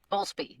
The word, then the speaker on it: Boultbee: that I accidentally forgot to ask how to pronounce my guest's last name, which I continuously forget to do. Is it Boultbee? Boultbee, yes.